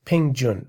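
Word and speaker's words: 平均: And the word, the pronunciation in Chinese is Pingjun.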